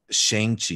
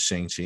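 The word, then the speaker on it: Shang-Chi: much about whatever a shang chi is because we thought he was a we thought the pronunciation was shang chi and it wasn't until this we learned it's shangchi and i loved this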